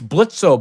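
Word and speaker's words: Blitzø: It's Blitzo, but the O is silent.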